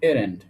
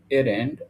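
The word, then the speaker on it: errant: এটা প্রোনাউন্সিয়েশন হবে এরেন্ট, এরেন্ট x honour to reclaim banks.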